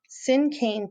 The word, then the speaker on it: cinquain: sin cane all right sin cane poem it's pronounced sin cane just like I typed right there it uses many verbs